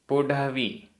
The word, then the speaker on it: पुढवी: पुढवी पुढवी, यहाँ वा में बड़ी की मात्रा। पुढवी।